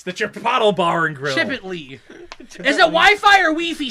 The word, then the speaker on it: Chipotle: pronounced and I'll finally be Chipotle. happy. It's Chipotle. Chipotle. It's the Chipotle Bar and Grill. Chip it, Lee.